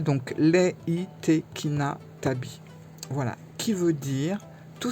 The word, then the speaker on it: Reitekina Tabi: Voilà, on va parler du tarot Leitekina-Tabi. Leitekina-Tabi. Voilà, parce que ça se prononce comme ça. Le R se prononce pas au Japon, hein. Le R est un L, donc Leitekina-Tabi.